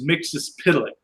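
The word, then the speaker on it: Mxyzptlk: pronounce his name but in the early issues of where he appears it actually goes through and shows you how to pronounce it and it's mixes pillock first curve tonight at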